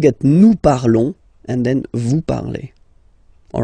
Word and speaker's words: vous parlez: Let's see now for vous, vous parlez, okay? Remember, z, when you combine them together, you get the sound e. Vous parlez, all right?